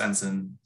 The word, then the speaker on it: NSIN: ensign if this is your first time encountering ensign um it's pronounced ensign it's nsin but it stands for the national